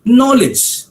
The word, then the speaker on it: knowledge: The P is silent there. KNOWLEDG, it is knowledge.